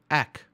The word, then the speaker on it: ek: on with these three things now how you pronounce that word the first word there is ack which is me essentially that's a translation me